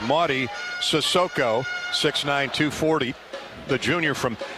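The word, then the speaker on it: Mady: and eight rebounds and Maddie Maddie Marty excuse me pronounced Marty sissoko 69240 the Junior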